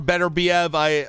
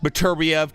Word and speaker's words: Beterbiev: Bivol or Beterbiev, or Beterbiev, depending how you want to pronounce it.